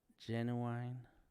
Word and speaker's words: genuine: genu genu genuine genuine how do you say that word genuine not like the rap group be honest be open